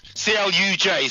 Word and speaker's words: Cluj: C-L-U-J, sorry. Cluj. Yes, I was thinking C-L-U-I is C-L-U-J.